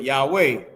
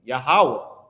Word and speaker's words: Yahawah: But right down here, the proper name of the deity, they put Yahweh. No, it's YAHAWAH. And it's not spelled like this either. It's YAHAWAH, not YAHWEH, right?